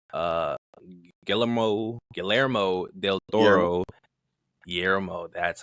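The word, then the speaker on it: Guillermo: Final trailer for Ozgood Perkins Keeper featuring praise from Fede Alvarez, James Juan, uh, Gellmo, Galler Del Toro Yermo, that's how you pronounce it.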